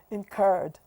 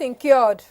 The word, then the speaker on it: incurred: Oh, and if it's the past tense, incurred. Incurred. Okay. Oh, people. It is not incured.